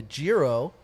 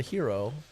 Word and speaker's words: Jiro: I actually have a Japanese rice lager called the Jiro. I hope I'm pronouncing that right. It's either the Jiro or the Hero. Nailed it the first time.